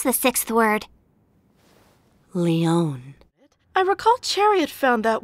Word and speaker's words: Lyonne: How exactly do you pronounce the 6th word? Leon.